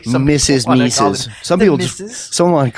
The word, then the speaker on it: Mises: Mrs. Yeah. Mrs. Not everybody wants to pronounce his name correctly. Some Mrs. Mises.